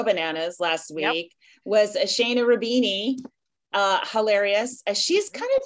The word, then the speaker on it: Shaena: It's, I go by Shaena. Oh, I go by Shaena. Oh, and Shaena is spelled S-H-A-E. N-A. Shay.